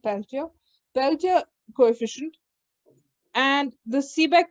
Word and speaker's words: Peltier: coefficient and uh okay peltier coefficients pronounced peltier peltier coefficient and the